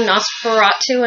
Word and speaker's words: NOS4A2: And for reading, I've been reading Nosferatu, and it's spelled Nos4A2, and it's by Joe Hill, and it's really good.